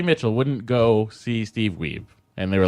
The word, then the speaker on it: Wiebe: is going Steve Wiebe everybody's like that we be its we be and then like they're like oh we've been saying it wrong the whole time just you just have to you just have to remember you just have to remember the cover of lean on me we be jammin don't be a Mitchell